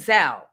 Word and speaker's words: Zelle: Who says stop calling it Zelly? It's Zell, rhymes with Bow.